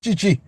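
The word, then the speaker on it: Tite: Chi Lord have mercy TI pronounced Chi Lord have mercy a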